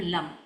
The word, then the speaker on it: लम: अगर हमें इसको बैलेंस करना है लम एल ए एम लम। लम हम उच्चारण करते हैं और लम में हम मां को ज्यादा खींचते हैं क्योंकि यहां हमें गूंज क्रिएट करनी है।